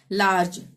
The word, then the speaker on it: large: ठीक है, तो जी के बाद ई आ रहा है तो लार्ज, यानी कि ज का उच्चारण होगा। लार्ग नहीं पढ़ेंगे, लार्ज।